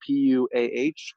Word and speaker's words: PUAH: It's spelled PUAH, called PUA.